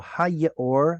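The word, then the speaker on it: הַיְאֹר: Now, when you pronounce this, you didn't pronounce the yod. That's okay. And this should be ha with a dagesh right there. But yod with a shva will sometimes say, no thanks, hard pass. Okay. So hayor, the yor, the stream, the river.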